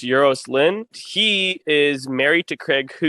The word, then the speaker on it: Euros Lyn: And then the director, I think his name is pronounced Euros Lynn.